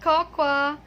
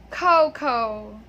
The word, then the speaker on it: cocoa: So people, hello, it's not cocoa. Okay, the correct pronunciation of this word is cocoa.